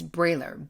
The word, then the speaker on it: Briehler: will be in the show notes her name is spelled m-i-c-h-e-l-l-e and it's brailler b-r-i-e-h-l-e-r so you can find that on youtube